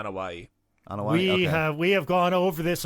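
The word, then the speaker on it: Anoaʻi: Is that how you pronounce it? Yeah, Anawahi.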